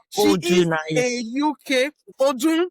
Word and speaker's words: Odunaiya: It's a special I've name, been is unique, struggling to pronounce this name. and Odunaiya. Yes, it's she is Odunaiya.